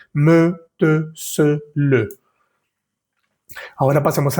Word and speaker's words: me: La palabra ME se escribe ME y se dice me. No vamos a decir M, o si no, S o T.